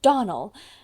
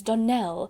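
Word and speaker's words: Donnell: you pronounced our name Donal now Miss Shirley the correct pronunciation of our name is Donell Accent on the last syllable I hope you'll remember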